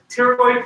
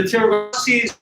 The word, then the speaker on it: pterygoid: One of these is a medial pterygoid process. The other is the lateral pterygoid process. The PT, you only pronounce the T. Pterodactyl, Ptolemy, pterygoid process. a medial and a lateral.